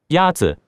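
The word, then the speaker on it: 鸭子: Yazi is pronounced with a first tone. In Mandarin, there are four tones, which are essential to distinguish the meaning of words. The first tone is a high-level tone.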